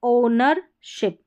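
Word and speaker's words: ownership: यह है ओनरशिप। ओनरशिप। यहां पर ओ के बाद डब्ल्यू साइलेंट है।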